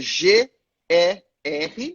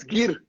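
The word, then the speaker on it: гэр: Escreve, se a gente fosse escrever em português, escreveria G-E-R, ou seja, nós falaríamos Ger, mas em mongol nós falamos Gir, Gir, Gir.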